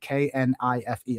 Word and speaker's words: knife: you go okay kn k n i f e all right clearly it's knife and then someone goes no it's it's it's knife like what do you mean no the k is silent the